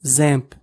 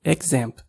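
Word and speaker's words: XAMPP: one of these packages called zamp some people also pronounce it examp so let's head over to the zamp website which is at www.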